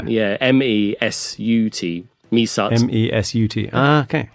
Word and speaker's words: Mesut: Yeah, M-E-S-U-T.